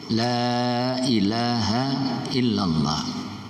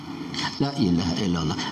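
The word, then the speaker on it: لا إله إلا الله: cepet-cepet kalau membaca cepet-cepet ada kecenderungan lamnya depan ini dibaca pendek Kurang panjang Lailahaillallah Lailahaillallah lainnya Kurang panjang nah dalam pasaran kalau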